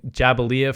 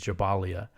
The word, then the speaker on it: Jabalia: quote so jabalia or I I was saying jabalia for a long time but I believe the proper pronunciation is jabalia jabalia has been the